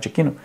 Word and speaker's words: Giacchino: A trilha do Michael Giacchino, que acho que é assim que pronuncia o nome dele, Michael Giacchino, também, cara, o filme, tecnicamente falando, é um filme espetacular.